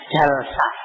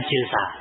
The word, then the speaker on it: jalsa: Nah, maka ini bahasanya jalsa, bukan jilsa.